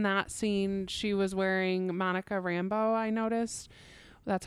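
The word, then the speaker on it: Monica Rambeau: really liked in that scene she was wearing Monica Rambo I noticed that's how you say her name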